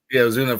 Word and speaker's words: Ozuna: I think it's gonna be Alonso and Uzuna, or how do you pronounce his last name? Ozuna for the Braves.